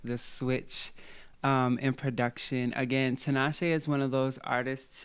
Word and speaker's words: Tinashe: How do you pronounce it? Tinashe. Tinashe. Okay.